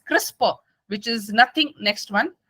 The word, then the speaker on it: CRISPR: studies next is crispr it is pronounced as crisper which is nothing next